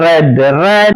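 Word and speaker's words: read: ലീഡ് ലെഡ് ലെറ്റ് റീഡ് റെഡ് ഉച്ചാരണം റീഡിന്റെ ശ്രദ്ധിക്കണേ past form past participle form spelling ഒന്നാണ് പക്ഷേ ഉച്ചാരണം വ്യത്യാസമുണ്ട് റീഡ് റെഡ് റെഡ് എന്നാണ് ഫീഡ് ഫെഡ് ഫാഡ സ്പീഡ്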